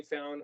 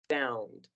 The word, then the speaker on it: found: Now, remember the pronunciation of the diphthong, the combination of the letters O and U here, it's pronounced as found, found. Can you repeat found?